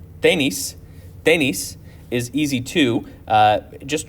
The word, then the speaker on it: tenis: So tenis is pronounced a little bit differently, tenis, but it means tennis.